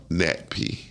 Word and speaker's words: NATPE: How you say it? NatP. Oh, that sound like nappy.